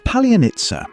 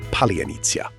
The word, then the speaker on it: Palianytsia: Palianytsia is one of Ukraine's oldest symbols of home and hospitality.